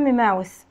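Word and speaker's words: mouth: فم ماوث ماوث، وعندي تي بنطقها حرف الثاء، فم ماوث ماوث ماوث.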